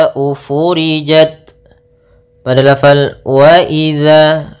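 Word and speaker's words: وإذا: Kita ulang faidan nujumu tumisat waidzama furijat pada lafal waidza. Hati-hati dalam melafalkan zalnya jangan dibaca waaiza.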